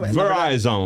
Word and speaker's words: Verizon: Verizon. Na verdade é tudo Yahoo. A minha pronunciation...